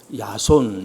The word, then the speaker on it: 야손: 그대 교회가 출발을 합니다 야손 이제 그렇게 기록되 있지만 이것이 이제 영어식 발음으로는 제이슨이 되겠습니다 어 그 집에서 이제